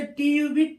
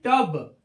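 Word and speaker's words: tub: रूप में होता है जैसे टी यू ब टब आप इसको ट्यूब नहीं पढ़ेंगे इसको क्या पढ़ेंगे टब सी यटी कट कुट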